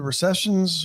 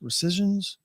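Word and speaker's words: rescissions: And you know, it's an we're at an interesting week because the recessions the recessions are recessions. Recisions. The recisions. Thank you. Got the finally got the pronunciation right which is really just a reconciliation.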